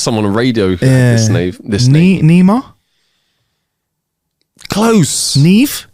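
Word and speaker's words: Niamh: on there was someone on radio this this neemo close ne ne yes come on I get one bing there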